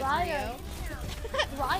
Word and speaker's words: Ryo: hell of a night please don't call me rio ryo why are you saying